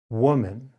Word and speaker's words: woman: four o as in woman it is very rare for the letter o alone to create the sound uh however this is the